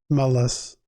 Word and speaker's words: anomalous: I say it right not Anonymous anomalous like anomalous anomalies anomaly okay anomalous anomalous I